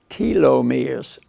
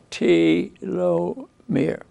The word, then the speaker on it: telomere: pronounced telomere okay uh like there's two e's there t low mirror and uh and what